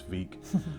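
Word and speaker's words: Vík: They've got two locations, one in Reykjavik and I think one in Vik, which I mispronounced in the video earlier and called Vik, but it's Vik.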